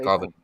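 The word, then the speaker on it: Gvardiol: No, that's how you say Gardiol.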